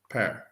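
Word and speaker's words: Pär: It's pronounced like P-A-E-R. Per. Per. Or like a pair of shoes, more or less.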